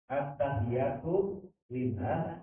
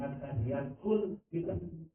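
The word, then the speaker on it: التحيات لله: bentuk keyakinan kepada Allah At-tahiyatu lillah wa sholawatu wa tayyibah. Apa yang salah bacanya bukan at-tahiyatul lillah. Salah. Iya. Jadi bukan at-tahiyatul lillah, tapi at-tahiyatu lillah.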